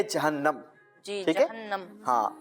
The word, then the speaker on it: جہنم: سب سے پہلے تو ایک تلفظ بیان کیا گیا جہنم. جی تو یہ جہنم پروناؤنسیشن غلط ہے، صحیح تلفظ ہے جہنم.